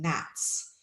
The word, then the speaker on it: gnats: get away to anyway because we don't pronounce the G I don't thinks we're just saying gnats and also this word